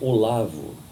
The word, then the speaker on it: Olav: Recebi o rei Olavo da Noruega, eles pronunciam Olav, e falei com ele em norueguês.